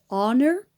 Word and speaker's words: honor: horse okay but here this word begins with a silent H so at our so if the word with silent H like honor for example or honest mistake okay so these words are contained silent H so you have to say and our and honest okay guys so if the words start with silent H you have to use and because in this case you begin with a vowel honor honest so an honor work